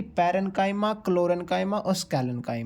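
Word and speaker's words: parenchyma: आर ई एन सी एच वाई एम ए पैरेंकाइमा एक जो second part है इसका कॉलन सीओ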